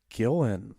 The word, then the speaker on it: Gillan: Kevin Hart, and Karen is it Gillan or Gillian? I keep hearing it pronounced as Gillan.